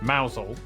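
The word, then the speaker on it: Mousehole: Then down to Moushole Mousel.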